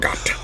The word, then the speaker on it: Margot: The one last point I want to make, Margot Robbie, before I say Margot, the T is silent. Margot.